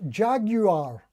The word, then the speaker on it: Jaguar: Bill Mumbo, oh, it's pronounced Jaguar. I had no idea. I always thought it was Jaguar or Jaguar.